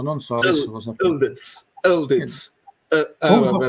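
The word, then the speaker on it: Yıldız: Yildiz si legge non pronunciando le I, ma al posto delle I c'è un suono sordo come un colpo di gola.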